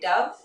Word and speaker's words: dove: ठीक है, तो यहाँ पे आपने दो वर्ड्स देखे, डव डोव. दोनों के स्पेलिंग सेम है, प्रोनाउंसिएशन अलग है और मीनिंग्स भी अलग है.